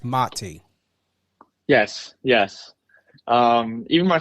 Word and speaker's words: Mati: before we went live it's very important to know how to pronunciate and and I get it you know sometimes you don't correct but it's motty yes yes um even